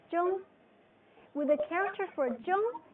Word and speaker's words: 中: 中 Zhong.